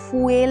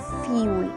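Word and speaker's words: fuel: মানে জ্বালানি তাই না এই ওয়ার্ডটাকে অনেকেই ফুয়েল বলো এটাকে ফুয়েল বলে না এটাকে বলে ফিউল ফিউল okay next word হচ্ছে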